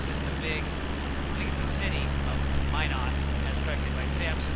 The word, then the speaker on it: Minot: This is the big city of Minot, as corrected by Sam, so thank you for that pronunciation correction.